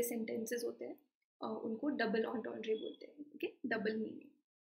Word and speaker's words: entendre: Double entendre, iska pronunciation zara dekh lo, entendre.